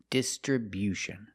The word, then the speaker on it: distribution: We move the stress to the first and third syllables. The first syllable. Distribution. And the stress on the third syllable too with bu distriution. stress on a first and third syllable. And remember, it's not distribution, it's distribution. Make that y-yu sound after the b.